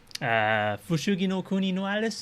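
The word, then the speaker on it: Fushigi no Kuni no Alice: Fushugi no kuni no Alice. That's how do you say it in Japan or Japanese?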